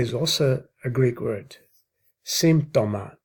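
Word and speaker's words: σύμπτωμα: Symptoma is how it's pronounced in Greek.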